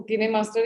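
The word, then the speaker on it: KineMaster: ओ, सो हम मैम में एडिट करने में हेल्प करो, किने मास्टर, इसको किने मास्टर ही बोलते हैं कि कैसे प्रोनाउंस करते हैं, कि है मेरे पास।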